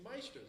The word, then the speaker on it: Maestros: It was hard to pronounce until actually he corrected me. It's like, it's Maestros. It's like, oh, I thought it was Masteros.